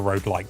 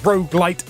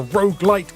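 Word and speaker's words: roguelite: Rog light as a road light can road light I knew I'd end up saying it wrong at one point it's pretty much as Rog light as a Rog light can be yes but it's not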